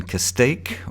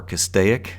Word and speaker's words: Castaic: we're on Interstate 5 in Castaic or Castaic depending on how you pronounce it actually I think there's a controversy over how that Town's name is pronounced even amongst the town people themselves I'm going to call it Castaic so we're just north